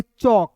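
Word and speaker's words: chalk: तो इसे पढ़ेंगे चौक। क्या पढ़ेंगे दोस्तों? चौक पढ़ेंगे। अब कहिएगा सर क्यों सी एच ए का होता है देखिए सी एच का च होता है एल है तो इसमें साइलेंट करेंगे के का क और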